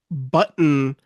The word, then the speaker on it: button: So when he says button, he's going button. But button button but button. And he's breathing through his nose at the same time he's saying the N.